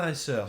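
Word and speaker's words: Frère et Sœur: How do you pronounce that? Frere et Soeur.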